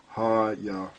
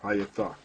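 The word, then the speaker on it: היתה: But the correct pronunciation is Hayatha. Right. Hayatha.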